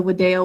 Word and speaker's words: video: with you in and it's the v pronounced as a w okay next question these